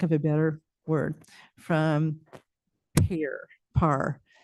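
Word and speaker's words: PARE: a better word, from PAR. P-A-R-E should be PAR, just so you know. Okay, so PAR, even though it's spelled P-A-R-E.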